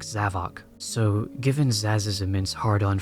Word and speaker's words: Zavok: I recently realized that Zavic's name is probably supposed to be pronounced like Havoc and not like Zavok.